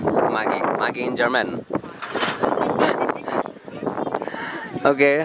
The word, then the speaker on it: Maggi: It's pronounced Maggi, and it's German. Maggi in German.